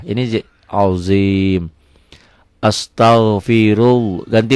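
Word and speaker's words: عظيم: Azim, zo ini azim, ZHO, ZHO kalau berbaris patah. Ini azim.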